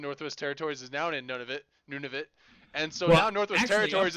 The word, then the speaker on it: Nunavut: Yeah, Nunavut. That's actually what it is. Not Nunavut. It's none of it.